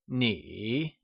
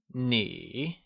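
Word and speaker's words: 你: Tonal tip You = Nǐ It is pronounced using a falling rising tone (3rd) Lets try and say Nǐ It is said with a falling rising tone also known as the third tone, Nǐ Tonal tip Good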